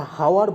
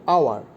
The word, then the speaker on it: hour: এই যে এইচটা, এইচের উচ্চারণটা তখন কি হয়ে যাচ্ছে, সাইলেন্ট হয়ে যাচ্ছে, এইচের উচ্চারণটা সাইলেন্ট হয়ে যাচ্ছে।